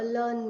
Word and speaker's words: learned: लर्नेड नहीं होगा, लर्न के साथ सिर्फ ड का साउंड लाइए. लर्नड मैन, अ लर्नड मैन. A learned man.